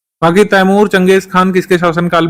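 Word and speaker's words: Genghis Khan: था, थर्ड पर फिर चंगेज खान, जिसको गेंगिस खान लिखा जाता है, इसी तरीके से, गलत स्पेलिंग नहीं, इसी तरीके से लिखते हैं, चंगेज खान रीड करते हैं, फिर आखिर में तैमूर आया था।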